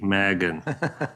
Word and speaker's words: Magin: So Magin, am I pronouncing that right? Magin. Close enough. Hard G, Magin.